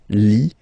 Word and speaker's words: Lituanie: Remember in French, sorry, H doesn't exist, okay, so you don't pronounce it, and it's Lituanie, Lituanie, la Lituanie.